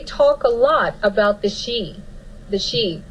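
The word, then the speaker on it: sidhe: And they talk a lot about the she, pronounced S-H-E-E is how it's pronounced, but it is spelled S-I-D-H-E.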